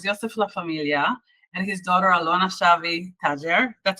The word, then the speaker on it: Alona Shavi-Tajer: My guests are Yossef Shavi, owner of Baltimore's Yossef Laffa-Milia, and his daughter Alona Shavi-Tajer.